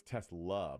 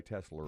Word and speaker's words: Tesla: that yeah I believe he knows how to say the word that it's Tesla but New Yorkers say tesler thank you all very